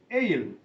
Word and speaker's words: ale: ഇനി രണ്ടാമത്തെ വാക്ക് ALE, എയിൽ. ഉച്ചാരണം സെയിം ആണ്, സ്പെല്ലിംഗ് മാത്രമേ വ്യത്യാസമുള്ളൂ. ആദ്യത്തെ എയിൽ AIL, രണ്ടാമത്തെ എയിൽ ALE, എയിൽ.